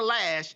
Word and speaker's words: Loesch: Dana Loesch, how do you pronounce her name? Lash. She said, Dana Lash said she doesn't care basically what he did.